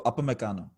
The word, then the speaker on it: Upamecano: How do you pronounce his name? Upamecano. Isn't it Upamecano? It's UP, so Upamecano. Okay.